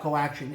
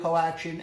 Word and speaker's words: Co/Action: action now two questions do you pronounce the for slash or say co- for slash action or do you ignore it and second is that supposed to be like a karate chop to the competition collection we'll chop you off we do not pronounce it but it is intended